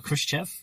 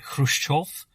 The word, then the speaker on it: Khrushchev: chris kev yeah so the film goes with the pronunciation uh khrushchev but if you want to be really pedantic about it it was something more like hushchorf but they were sensible